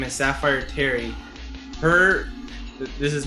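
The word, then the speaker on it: Safyre: it's a weird name, it's like Sapphire, but it's spelled S-A-F-Y-R-E. Her name is Sapphire Terry.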